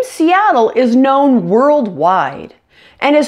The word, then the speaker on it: Seattle: exactly the same way to correctly pronounce the S sound you should flatten your tongue to the bottom your mouth and the sides of your tongue will stick out between your upper and lower side teeth and your lips are